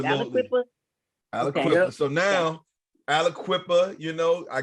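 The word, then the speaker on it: Aliquippa: Alquippa.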